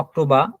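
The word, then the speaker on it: Oktober: ওতে অক্টোবা, এই দেখেন আবার রটা নাই আর মতো উচ্চারণ, অক্টোবা মানে অক্টোবর, পেতে হচ্ছে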